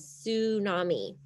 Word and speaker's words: tsunami: rapid change called a tsunami so look at that word tsunami I know it starts with a T but the t is silent you pronounce it as tsunami a tsunami is a